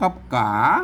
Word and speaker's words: ก๋า: ตัว กะ นะ ครับ มัน จะ ต้อง ออก เสียง จัตวา นะ ครับ ก๋า นะ ครับ อือ คน เข้า ไป